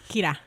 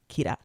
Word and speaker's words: Kira: kiddo by the way is uh Kayla yeah Kayla but in like a Japanese accent so I love how they say it too they really pronounce the r Kira Kira yeah and uh it's